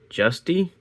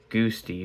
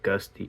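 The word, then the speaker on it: Giusti: 101 from Dave Justy, I believe is how you say his last name. I used to think it was um goosey, but um I've primarily heard it called gusty or whatever I said the first time um is what I've heard the most.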